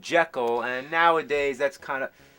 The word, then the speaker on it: Jekyll: proper pronunciation is Jekyll?